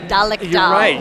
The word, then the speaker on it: Dalek Doll: And I believe it's pronounced Dalek Doll. You're right.